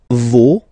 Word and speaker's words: vos: Okay, and then for the plural, nos, vos, and then leur. Okay, so remember, even if you've got this final s, you don't pronounce it, as it was the